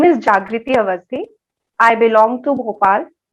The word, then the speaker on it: Jagrati: It is spelled as Jagriti, but my name is Jagriti.